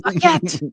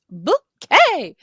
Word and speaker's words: Bucket: know so it was a big bucket yes bucket b u c k t it's pronounced bouet um but but and it's a thing you